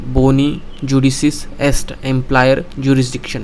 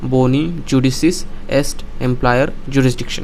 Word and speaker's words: Boni judicis est ampliare jurisdictionem: तो दोस्तों, आज का हमारा लीगल मैगज़ीन है जिसका प्रोनाउंसिएशन कुछ इस तरीके से है, बोनी जुडिसिस एस्ट एम्प्लायर जुरिस्डिक्शन है। क्या? एक लैटिन मैगज़ीन है। फिर से सुनो, बोनी जुडिसिस एस्ट एम्प्लायर जुरिस्डिक्शन है।